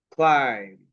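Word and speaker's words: climb: এরকম যত শব্দ পাবা তোমরা, যে শব্দের শেষে এরকম এম বি আছে, তাহলে আমরা এই বি এর সাউন্ডটা পড়বো না।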